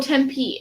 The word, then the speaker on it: Tempe: Oh, Tempe.